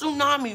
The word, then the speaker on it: Tsunami: It's Tsunami, right? I think I've been pronouncing the T. That ain't right.